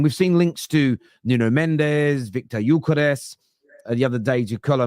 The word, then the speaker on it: Gyökeres: Say the pronunciation again of Victor Gyökeres, because I thought that was brilliant. Victor Gyökeres.